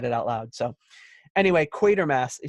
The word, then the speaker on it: Quatermass: It is pronounced Quatermass. Oops. Not Quatermass.